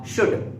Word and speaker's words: should: इसको शुड नहीं बोलते, इसको शुल्ड नहीं बोलते, इसे कहते हैं शक्कर कशा वाला शुड।